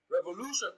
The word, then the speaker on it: revolution: the word apparently revolution revolution has distressed on the third syllable from the beginning of the word and the second syllable